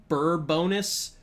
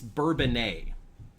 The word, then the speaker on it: Bourbonnais: There is one in Illinois that is spelled the same way. Mostly, it's Bourbonnais. Here, at least in Illinois.